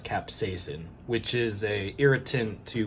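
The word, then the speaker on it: capsaicin: capsicum I don't know it's actually pronounced capsacin which is a irritant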